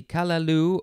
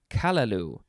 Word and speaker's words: callaloo: next is callaloo uh let's see kalalu or you could emphasize the first syllable which would be kalalu kalalu or kalalu noun from 1892 one